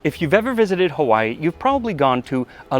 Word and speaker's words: Hawaiʻi: And it is pronounced Hawaii instead of Hawaii, but you'll often hear both pronunciations.